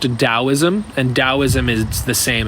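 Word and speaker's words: Taoism: different tosm is pronounced dosm and dosm is the same as taism it's the same thing it's just pronounced dosm the t is a d I think people think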